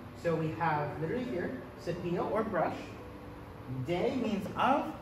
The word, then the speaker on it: cepillo: The double L's are pronounced silently whenever they're together. So we have literally here, cepillo or brush.